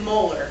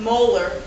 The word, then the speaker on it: molar: when we see this 6.0 M and we pronounce it molar so this would be pronounced 6.0 molar HCL solution now there's an awful lot implied